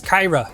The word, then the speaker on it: Caiera: to want to play next up is Kyra yes that's how you say it um love this card